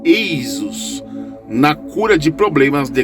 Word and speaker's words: Esus: O trabalho contém um talismã mágico médico decifrável em gaulês, como de aparece é invocar o auxílio de Jesus, pronunciado Eisus, na cura de problemas de garganta.